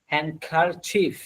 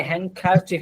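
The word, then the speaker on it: handkerchief: dress একটি জামা আ shirt একটি রুমাল আ হ্যাংকার চিফ এই যে হ্যাংকার চিফ এটার উচ্চারণটা একটু খেয়াল করবেন আপনারা হ্যাংকার চিফ চিফ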